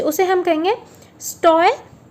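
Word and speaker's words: stoicism: से, उसे हम कहेंगे स्टोइज्म। सो इसका प्रोनाउंसिएशन आपको पता है, STOUH, मैं फिर से लिख देती हूँ, STOUHS, USIZM।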